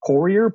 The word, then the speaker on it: Poirier: correctly funny it's um so in in America it was Americanized to just Poirier but really any any